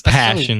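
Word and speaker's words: Persson: someone asked him that the pronunciation is closer to passion but i imagine that's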